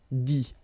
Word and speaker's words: dit: Dire, to say, IRE will become IT, okay, remember, you put this T, you don't pronounce it, écrit, dit.